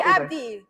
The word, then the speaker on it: Abdi: it's a very different pronunciation, which tells me he ain't someone. Can you Wait, hurry up? Have a Abdi, go Abdi.